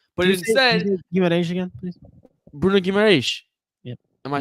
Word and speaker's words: Bruno Guimarães: I purposely say I try to say it with the Portuguese accent.